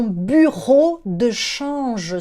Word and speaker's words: bureau de change: Olha a pronúncia do U aí que você está ouvindo eu fazer desde o começo do vídeo, né? O U a gente pronuncia U, dessa forma, com a língua solta lá dentro da boca.